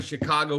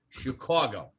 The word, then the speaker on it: Chicago: they fired his ass i said exactly how i've said it my whole life i'm from chicago that's how we say it here and that's how i say it and then i remember